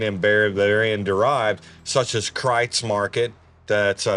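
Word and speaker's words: Kreuz: Bavarian derived, such as Kreitz Market, that's spelled K-R-E-U-Z, but pronounced Kreitz Market, has been in operation since 1900.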